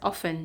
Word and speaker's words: often: yeah for often okay the T here is silent so it is pronounced as often not often all right